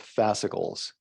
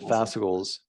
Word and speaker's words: fascicles: And muscle cells make up fascicles, and fascicles make up whole muscles. Make up fascicles and fascicles. How do you pronounce it? Fascicles. Okay. Yeah. Fascicles. Like popsicle, but fascicle, bicycle, fascicle.